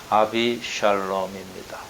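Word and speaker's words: אבשלום: 그 이름을 원어에 가깝게 또 발음을 해보면 아비샬롬입니다. 아비는 아버지고 샬롬은 평화니까 아버지는 평화입니다.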